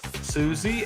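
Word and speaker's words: Siouxsie: Suzy and the Banshees. And Suzie is spelled really weird like like a Sue Indian.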